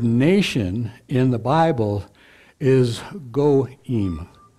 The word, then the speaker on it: goyim: The word nation in the Bible is goim. I have to spell it G-O/I-M to be able to pronounce it closely.